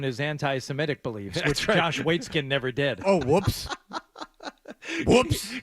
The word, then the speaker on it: Waitzkin: But so after high school, how do you pronounce Waitzkin? Waitzkin, yeah.